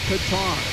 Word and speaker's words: Qatar: So, cutter is a military term which is 100% wrong. The more correct English pronunciation is Qatar.